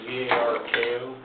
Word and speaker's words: Zarko: It's spelled Z-A-R-K-O.